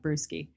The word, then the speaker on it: Brueske: It looks like brewski.